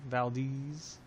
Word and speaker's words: Valdez: Valdez.